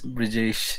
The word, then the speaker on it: Brijesh: Hi, Brajesh. Yeah, hello, sir. How are you doing? I'm doing great. Am I pronouncing your name right, Brajesh? Yes, sir. It's Brijesh.